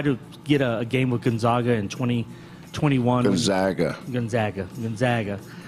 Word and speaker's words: Gonzaga: our neighbors it's and it's not Spokane and it's not Gonzaga it's Gonzaga and it's Spokane go ahead go ahead